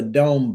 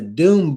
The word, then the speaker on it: Dome Book: Dome, but it's spelled No, it's called the Doom Book. And Doom is spelled D O M E. So, it was called the Doom Book, but it was Doom M.